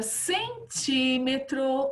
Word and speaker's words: centímetro: Vasculhando com LH, cada centímetro, olha o acento aqui, né? Toda proparoxítona é acentuada, sílaba forte não é a última, não é a penúltima, é a antepenúltima, proparoxítona, centímetro, tá bom?